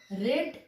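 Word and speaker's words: read: और यहाँ पे रीड, तीनों फॉर्म ही रीड होता है स्पेलिंग में, लेकिन प्रोनाउंसिएशन रेड हो जाता है।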